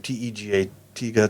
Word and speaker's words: Tega: Because Tega, how do you pronounce his name? Tega, Tega, Right.